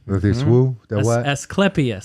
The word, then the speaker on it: Asclepias: Asclepias. Spell that. Asclepias.